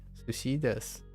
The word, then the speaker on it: desu: Sushi, oh, you mean like because it sounds like desu, like des sounds like 1. Yeah, there that's a little idiosyncrasy about Japanese.